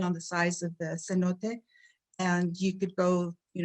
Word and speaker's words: cenote: this is called the cenote it's uh spelled c-e-n-o-t-e but it's pronounced cenote and uh they're underground water areas